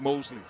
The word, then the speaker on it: Mousley: that my name is Mosley well the English language is uh unnecessarily complicated at times ghost letters and uh letters that you don't pronounce in various words but Mosley it is